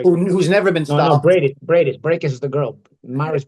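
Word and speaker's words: Briedis: with him, the former cruiserweight champion, if I pronounce his name right, Breakus, the one that Usyk beat. Breakus, yeah. Who's never been stopped. No, Bradis.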